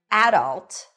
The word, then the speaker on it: adult: The first pronunciation is adult. Adult. The stress is on the first syllable.